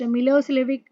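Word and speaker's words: Milošević: were in majority a narrow-minded Serb nationalist milosevic pronounced Milos lvic had won the election his government was very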